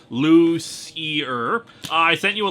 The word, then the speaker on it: Lucier: While you're doing that, dear Louis Lovhog, this is Lucier again, and as the pronunciation, Lucier.